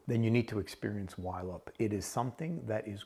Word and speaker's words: YLOP: Now, when I first came across it, I was pronouncing it YLOP. Bear with me. It's actually YLOP, but I had no idea of its backstory.